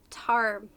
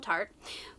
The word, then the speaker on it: Tar: going to call him Tart, pushes his way to the front of the crowd and lays down an outrageous bid. You'll see. Fierce her nightmare is just the beginning. Oh, tar. Not tart.